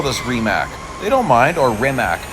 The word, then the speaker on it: Rimac: actual CEO who says the name of this company is remac he decided to go with the international pronunciation because that's what you